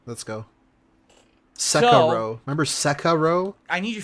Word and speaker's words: Sekiro: Sekiro. Remember Sekiro? I need your feedback. What do we do about this whole JRPG? He got bullied into saying Sekiro because he would say Sekiro.